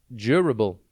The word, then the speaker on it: durable: tv today's word is durable it is pronounced j bull and it is spelt d u r a b l e think jur and then able durable means able to